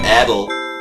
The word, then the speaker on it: Adel: Ich sag Adel. Ich glaube, das wird in Englischen so ausgesprochen. In Deutschen wird es ja Adel heißen.